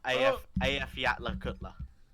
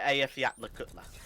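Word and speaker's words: Eyjafjallajökull: I'm not sure if it's accurate, but I had it as AF Yatla Kutla.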